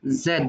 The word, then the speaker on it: Z: U ইউ, U, ভি, V, ডাব্লিউ, W, এক্স, X, ওয়াই, ওয়াই, Y, জেড। Z, এটা তুমি জেড উচ্চারণ করতে পারো অথবা জি বলতে পারো, জেডও বলা হয় জিও বলা হয়।